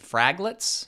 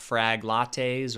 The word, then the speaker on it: fraglets: NPM over here is this thing that I called fraglets, not frag lattes or fraglates or some other pronunciations.